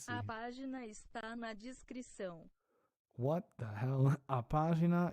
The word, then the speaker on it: descrição: Oh, so that weird C is that's how you say it.